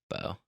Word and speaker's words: Beau: So it's either How do you pronounce the name spelled Beau? Beau. Beau. Bo.